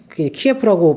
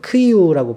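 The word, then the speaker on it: Київ: 키예프라고 발음을 하면 안 되죠. 크이우라고 발음을 해야 되는데, 그 위에 체르노빌이 있어요.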